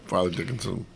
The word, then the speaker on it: Fairleigh Dickinson: Farley Dickinson. It sure is spelled Fairley. Well, I've always said Farley Dickinson.